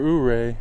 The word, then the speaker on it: Ouray: now I at the official hoay huray for uray Overlook that's how I'm going to remember how